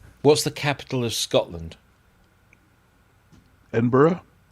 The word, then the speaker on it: Edinburgh: that is all right but a lot of Americans say edin Bor they put an extra EDB or edinb yeah Eden Burrow how about gler is